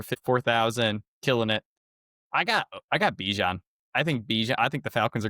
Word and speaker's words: Bijan: His name is Bijan. He got mad in an interview that you guys are saying my name wrong.